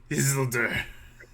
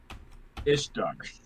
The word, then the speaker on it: Isildur: It's not how to pronounce, guys. It's really not. Isildur. It's Isildur. Isildur. Sil. Lodor. You motherfucker. Sullivan. Blake, what did you think it was again? Ishtar.